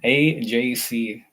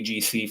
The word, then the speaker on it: AJC: So I always have to make sure I pronounce the AJC properly. AJC. I don't know why my mind just goes to G right away, AGC, for some reason.